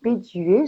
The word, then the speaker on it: Bedué: Et aujourd'hui, nous sommes avec Jenny Béduet, j'espère que je le prononce bien, de Ayurveda et vous.